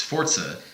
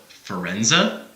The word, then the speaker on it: Forza: it's just something that people constantly mispronounce. It's Forza. Yeah. Even though I mispronounced that one on purpose to a degree. No. That's fine. You can call it Forza. You don't need to do the Italian pronunciation. It's fine. Sure. Forza. I'm fine with either one. But when people call it Forenza, oh, that's pretty bad.